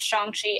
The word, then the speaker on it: Shang-Chi: He made a post when the announcement, when the trailer dropped, he did make a post saying that it is pronounced Shang-Chi and also how to pronounce his name.